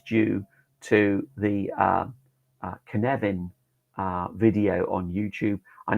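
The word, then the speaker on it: Cynefin: all credit is due to the uh uh canevin uh video on YouTube I know it looks like sinin but that Welsh it's pronounced Kevan uh fantastic video um by the founder of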